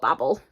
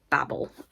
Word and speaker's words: Babel: this way because like Babble it's it's all Babel I know I'm pronouncing it the I know I'm pronouncing it the American way but Babel makes more sense in the context of the book anyway stunning edition of